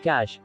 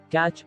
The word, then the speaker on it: cache: in very easy words cache which is pronounced cache not catch or cache stores recently used information